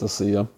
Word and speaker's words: Asia: Or some people mistakenly call her Asia. It's Asia. I thought it was Asia too. I finally heard her say her name.